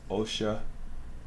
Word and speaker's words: Oxia: By the way, Oxia is pronounced Osha.